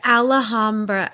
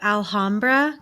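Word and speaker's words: Alhambra: it to sound fancier it's not alhamra it's alah Hamra I did I said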